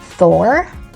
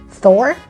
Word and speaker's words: Thor: Thor. We just swallow the H and we don't pronounce it. We pretend it's not there. Thor.